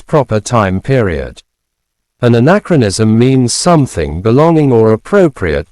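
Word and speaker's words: anachronism: Our third word for today is anacronism.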